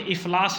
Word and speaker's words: افلاس: افلاس کہا جاتا ہے، یہاں اس کا درست تلفظ اپنا رشید حسن خان نے اردو املا میں افلاس لکھا ہے۔ تو غربت